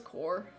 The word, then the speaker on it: corps: galaxy team survey corps i say corpse i know it's core you may call me